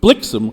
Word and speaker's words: Blixem: weak ending word but blixem rhymes with Vixen Blitzen does not Blitzen does not rhyme with Vixen no oh I believe